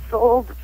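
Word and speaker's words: Souled: And Sold would be the name of the record. It's also the title track, and it's a play on words because it's spelled S-O-U-L-E-D, like your soul.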